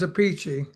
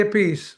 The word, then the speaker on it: Appice: a big thing about how do you pronounce your last name and you said a piece or a peachy your brother Vinnie has a different pronunciation. My older brother says a peachy. My brother Vinnie says apey, right? What about your sister? I say a piece.